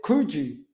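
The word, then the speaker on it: Kökçü: ozil's this guy um oh is it kuju no seriously that's how you say his name he's um quite a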